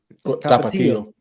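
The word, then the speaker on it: Tapatío: Tapatio.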